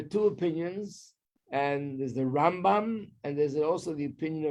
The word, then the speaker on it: Rambam: Rambam, you put the emphasis on the first half of the word, Rambam.